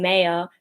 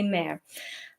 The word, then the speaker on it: mayor: say it as an australian i was saying mayor for a while and my my family is